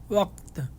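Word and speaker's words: وقت: কাফটা কার মতো হবেন, এটা ক, ওয়াক্ত।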